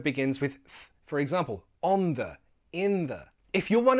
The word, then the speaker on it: the: with th, for example, on the, in the. If you're one of those people who pronounces this as onda, with a hard sound instead of on the, a soft sound, I'm going to show